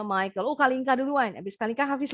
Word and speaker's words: Michael: Bacanya Michael.